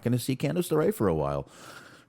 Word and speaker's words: Candice LeRae: Candice LeRae. That's how you pronounce that.